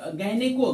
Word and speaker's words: gynae: गायने GYNAE, ए silent रहेगा, GYNE गायने होता, लेकिन GYNAE है, GYNAE ए साइलेंट है।